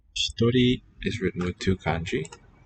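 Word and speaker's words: 一人: 行します Hitori is written with two kanji. Hitori. Oh, maybe I can do more than one. No, not so much. No, bruh. Ichi, nin. These two together read as hitori.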